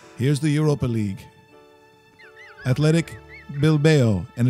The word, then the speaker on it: Bilbao: Athletic Bilbao. And it's not Bilboa like Russell said earlier, like Rocky. It's not how you pronounce it.